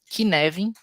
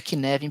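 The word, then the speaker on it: Cynefin: Isso aqui se chama Kineven porque a pronúncia é do gaulês, mas se alguém quiser pesquisar, se escreve assim, ó. Nefim, né? Mas se pronuncia queven porque é gaulês.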